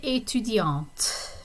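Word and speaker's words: étudiante: a male student in etudiant with the t pronounced at the end a female student okay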